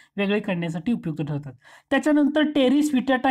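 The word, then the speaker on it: Pteris vittata: त्याच्यानंतर टेरिस विटाटा ही नेचे जातीतील वनस्पती आहे. टेरिस विटाटा, त्याला पी सायलेंट असतो बरं का, इंग्रजीमध्ये स्पेलिंग बघा PTRIS, त्याला पी सायलेंट असतो. जसं न्युमेनियामध्ये सुद्धा पी सायलेंट असतो स्पेलिंगमध्ये, तसं टेरिस विटाटा ही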